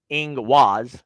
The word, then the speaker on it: Ingwaz: Ingus, or pronounced Ingwaz, see, I'm learning, is both a powerful